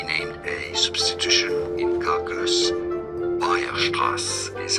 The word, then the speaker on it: Weierstrass: Weierstrass is how it's said in German.